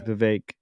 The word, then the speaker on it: Vivek: Vivek? Yeah, Vivek. Like cake.